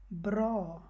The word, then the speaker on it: bra: সো এখানে কীভাবে হবে ব্র, ব্র মানে ভালো, এখানে অটাকে অ হিসেবে উচ্চারণ হবে, আ হিসেবে না। সো ব্র, কিন্তু এইটাকে আবার আ হিসেবে হবে, ইয়ব্বাত, এখানে আবার ইয়ব্বত হবে না।